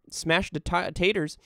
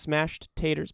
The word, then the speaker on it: Smashed Taters: your eyes yuck yuck smash taters thanks for the 500 bits i bet you said my name wrong it's smashed taters by the way oh smashed taters sorry hafu fell 24-inch is